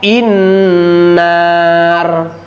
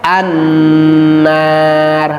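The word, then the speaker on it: النار: Ibu tiba-tiba membaca inar atawa unar tidak boleh begitu. Kenapa? Rumusnya tadi sudah jelas. Ketika ada hamzah wasal bertemu setelahnya huruf lam maka harus dibaca fathah. Berarti cara membacanya a. Jadi bacaannya annar.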